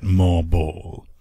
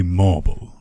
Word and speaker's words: MarBall: This time we're going to take a look at MarBall. It might be marble, but it's spelt M-A-R-B-A-L-L.